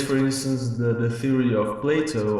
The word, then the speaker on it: Platon: Well, in a philosophical point of view, there is, for instance, the theory of Plato or Platon, as it is, the name is pronounced in ancient Greek.